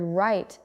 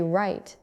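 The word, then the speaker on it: write: The word right is spelled W R I T E, but we do not say the W. We say right.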